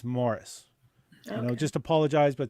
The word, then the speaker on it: Maurice: but he spells it m-a-u-r-i-c-e so we made it clear to him that it's not to be pronounced maurice it's morris you know just apologize